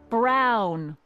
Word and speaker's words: Brown: to a t that's emmett brown rhymes with clown which i'm beginning to